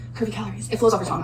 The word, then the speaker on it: Curvycalories: My weight loss Instagram, it is at Curvycalories, but it is spelled a little different. It is Curvycalories. So it's Curvycalories, but calories has 2 I's in it. So that is the only difference.